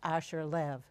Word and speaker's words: Asher Lev: we're going to talk about my name is Asher live which is Aaron Posner's did I say it right yes wonderful adaptation you say Asha right it's wonderful if you listen to this